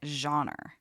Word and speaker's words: genre: Because I say it genre, right? There's John, like the name John, and then Ra, like She-Ra. And it's two very distinct syllables, and that's not how you're saying it.